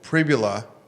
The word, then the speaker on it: Pribula: Uh Bo Pribula, believe I'm pronouncing his name right.